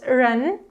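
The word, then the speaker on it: 人: This is the Chinese character that means a person, so it's pronounced ren, and ren becomes in Korean.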